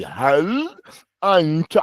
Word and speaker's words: هل أنت: Like, I want you to say, Hal anta. I want to hear the noon and the ta.